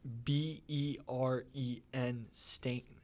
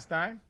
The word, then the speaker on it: Berenstain: stain right a-i-n it's b-e-r-e-n stain stain the berenstain bears it's not stein no no that's the mandela effect because you think it's s-t-e-i-n everyone thinks that and you think it's